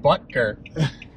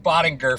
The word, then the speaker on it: Butker: Who knew that you pronounce it Ike Butker? I've been calling him Ike Bottinger for two seasons.